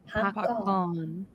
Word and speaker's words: พักก่อน: พักก่อน Pakon. Like the name. Pakon. Pakon. Pakon. Is it like the name? No. Like No. PAKORN. Yeah, พักก่อน พักก่อน Actually, the last syllable it has to go down.